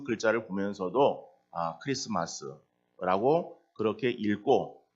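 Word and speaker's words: Xmas: 그런데 그것을 우리 성도님들 가운데서도 엑스마스 쓰고 왜 크리스마스라고 읽는가라고 하는 데 대해서 잘 모르시는 분들도 있을 수 있습니다. 그 X는 알파벳의 X가 아니고 헬라어의 키라고 하는 그러한 알파벳이에요. 그 알파벳의 그러니까 헬라어 알파벳의 그 키라고 하는 것이 키가 그 이제 X로 쓰는 거예요.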